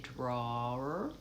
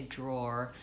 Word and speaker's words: drawer: We don't really say that w sound. I don't say drawer. I say drawer. So basically I'm using an o dip thong drawer.